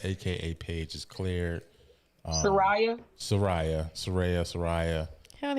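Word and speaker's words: Saraya: She said it's pronounced Serea. She she she made it clear.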